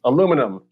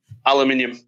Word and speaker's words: aluminium: Aluminum. Say aluminum. It's aluminum. Aluminium. Aluminum. Alu. That's how it's spelled.